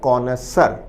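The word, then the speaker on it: connoisseur: विद्यार्थी इसके उच्चारण पर भी ध्यान दें। शब्द का उच्चारण है कोनसर। कौन अ सर कोसर का अर्थ है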